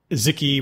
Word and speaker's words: Xiki: by by wiki's uh it's called ziki which is spelled x-iki yep because you know it's